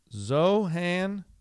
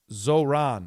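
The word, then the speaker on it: Zohran: His name is Zohan. Zohan Mamdani. Is that right? Am I saying it right? Zoran. I'm Zoran Mdani.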